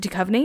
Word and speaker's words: Duchovny: okay okay David Duchovny is it Duchovny yes yes oh my God David